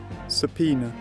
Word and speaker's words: subpoena: Sao oh it is seonia oh saona hey subpoena subpoena all right I got it I got it it's subpoena let's do this back to the game with